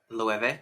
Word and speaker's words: Loewe: It's just Loewe.